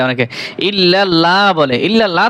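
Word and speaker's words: إِلَّا اللّٰهُ: অনেকেই পড়বে লা ইলাহা লা ইলাহা এরকম তো উচ্চারণ হবে না হামজা জের ই লা ই লাহা লা ইলাহা ইলাহা লা ইলাহা এরপরে ইল্লাল্লাহু এইখানে এইযে লাম রয়েছে এই লামটা পাতলা করে দে অনেকে ইল্লাল্লাহ বলে ইল্লাল্লাহ তো বলা যাবে না ইল্লাল্লাহু ইল্লাল্লাহু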